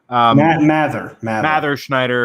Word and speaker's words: Mather Schneider: Mather Schneider. It's pronounced like Blather, as he enjoys reminding me.